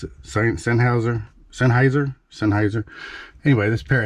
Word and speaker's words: Sennheiser: pair of seinhauser I guess that's how you pronounce it Sennheiser Sennheiser Sennheiser anyway this pair of headphones these